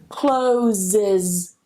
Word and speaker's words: closes: I need to add that schwa. Closes.